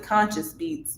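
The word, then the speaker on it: Konscience Beatz: to spell it because he pronounced it conscious beats but it's spelled like conscience but with the k so it's k-o-n-s-c-i-e-n-c-e beats b-e-a-t-z that's it just add conscious beats on everything soundcloud youtube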